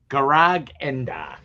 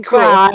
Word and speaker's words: Garagenda: Garagenda. Garagenda. I was saying it right in my head. Okay. People are saying Grog, and then there's, excuse me, Mr. Enda, which floored me.